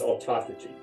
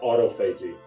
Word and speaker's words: autophagy: This one is autophagy. Not autophagy. Think of it, autophagy.